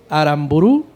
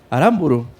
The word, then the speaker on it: Aramburu: Morales Irving rojas Víctor aranburu aramburu porque no tiene acento en la última u Adrián Velázquez y